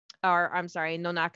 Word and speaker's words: Nonaka: Nonaka, I would be the proper way to say it, but she is my